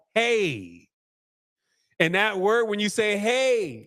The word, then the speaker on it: Ai: The biblical references agree that AI is or hey. That's how you pronounce this. AI is not called AI. It's called hey.